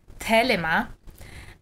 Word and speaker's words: Thelema: And Marco has studied, among other things, Aleister Crowley, the tradition of Thelema, which would be pronounced in Greek Thelema, and sex magic.